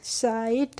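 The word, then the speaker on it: sight: हमने पढ़ा माइट तो एसआई जीएसटी को हम क्या बोलेंगे साइट मैंने बताया आईजीएसटी का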